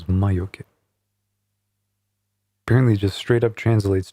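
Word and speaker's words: 魔除け: Yeah, it's like 2 syllables. Mayoke.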